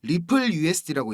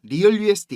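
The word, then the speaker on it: RLUSD: 전망이 됩니다 자 형님들 rl usd 이거 이거 뭐라고 읽어야 된다 그랬죠 리플 usd고 읽는 겁니다 리얼 usd 이거 아닙니다 갈링하우스가 그 암스테르담에서 스테이블코인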